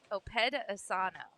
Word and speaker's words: Opedasano: I'm going to get this name. 'Kay. I've gotten some of the hard names down, but it's Opedasano. Yes, Kylie Opedasano.